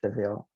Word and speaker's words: Savile: I mean, it is pronounced Seville, but vile, and certainly we think of that word revile, and that's exactly what happened in his case.